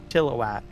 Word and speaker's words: Chilliwack: Chilliwack, right? Can't even hear the I when I pronounce it. But there's a lot of people, they'll say chilly whack, chilly whack.